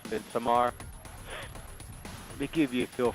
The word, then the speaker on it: Midsommar: Yeah, Midsummer. But it's pronounced Midsommar.